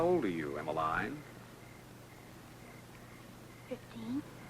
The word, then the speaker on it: Emmaline: Emiline, it's Emiline, Mr.